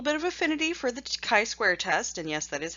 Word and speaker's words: chi-square: have a little bit of affinity for the chi-square test and yes that is how you pronounce it it's based on the Greek letter